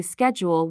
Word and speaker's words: schedule: distinct too like how Americans say schedule with SK sound while the British use